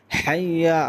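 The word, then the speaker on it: حي: অনেকে বলে হাইয়া আলাস সালাহ অথবা আইয়া আলাস সালাহ। এখানে বলতে হবে হা দিয়ে উচ্চারণ করতে হবে, হাইয়া বলতে হবে।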